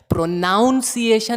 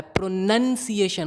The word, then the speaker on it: pronunciation: प्रोनाउंसिएशन नहीं होता है, प्रोनंसिएशन होता है।